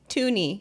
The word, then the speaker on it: toonie: To rhyme with loony, the loony and the toonie.